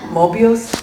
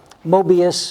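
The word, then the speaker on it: Möbius: the work of uh mobius or i guess he was german so i think his probably was actually pronounced murbius he was a uh i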